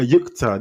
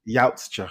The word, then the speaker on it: Yautja: A yukta.